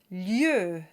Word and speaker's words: lieu: The next 2 words we have the letter I, pronounced E, that comes right before. And this combination creates a kind of y sound, and it gets its very own phonetic symbol. We have lieu and Dieu.